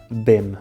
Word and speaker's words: bem: No caso das palavras que acabam em EM, como a palavra bem, o som nasal que elas fazem é o ditongo em, que também está presente na palavra mãe, por exemplo.